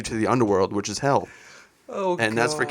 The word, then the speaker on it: Hel: a Norse goddess called I'm guessing this is called Hel because it's spelled Hel. So It's hell. Hell.